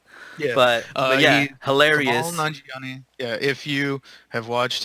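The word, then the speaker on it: Kumail Nanjiani: to say his name, Camille Really? Anjani? It's Kamal Anjani? Come on, Johnny. Kamal Nanjiani. Nanjiani. Okay, yeah.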